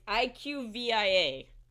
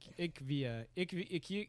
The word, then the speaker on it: IQVIA: No, it's IQVIA. IQVIA. Ikvia, yes.